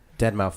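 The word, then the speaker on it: deadmau5: Dead mouse? I don't know. What, who? Dead Mouse 5, but yeah, you were close.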